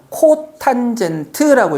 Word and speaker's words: 코탄젠트: 요거부터 탄젠트 세타분의 1, 즉 탄젠트의 역수를 C, O, T, 세타라고 쓰고 우리는 뭐라고 읽을 거냐면 코탄젠트라고 읽을 겁니다.